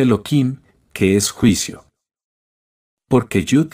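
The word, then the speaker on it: Elohim: juicio por lo tanto se escribe el nombre de la Misericordia pero se pronuncia eloim que es juicio porque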